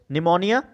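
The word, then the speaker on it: pneumonia: जैसे यदि बात करें एस से मतलब सिफिलिस, एस से हो गया हमारा सिफिलिस, P से निमोनिया। ठीक है, निमोनिया P से शुरू होता है और P साइलेंट रहता है इसके अंदर।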